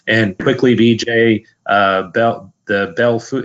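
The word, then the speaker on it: Belle Fourche: quickly DJ about the bell food it's pronounced Bell foosh South Dakota the local pronunciation yeah I realize that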